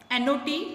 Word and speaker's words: knot: Next word is after new, not, N-O-T if you want to say no. And not, K-N-O-T. Here K is silent, as knife, K-N-I-F-E.